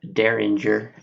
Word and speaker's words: Dareringer: at rabbit hole this is the derringer the derringer as it is actually pronounced um it's a finished whiskey uh it